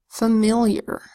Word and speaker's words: familiar: And then we've got the I that says y, because it's with this unstressed AR phonogram.